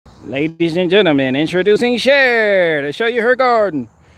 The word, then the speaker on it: Cher: was like yo you you said her name wrong her name is cher i was calling the sure do you believe you